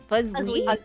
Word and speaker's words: Fuslie: Can I get a pronunciation on the Fuslie? Fuslie? Like a fuzzy. Like, no, just Fuslie.